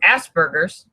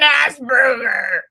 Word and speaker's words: Asperger: You're an Asperger. No, but it is on the scale of the autism scale. But Linda says it's spelled different. I know it's spelled differently. It's spelled like Asperger, but it's Asperger.